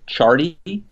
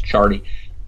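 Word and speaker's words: Ciardi: pronounce it right, Mark Chardy. It's spelled C-I-A-R, but I think it's Chardy.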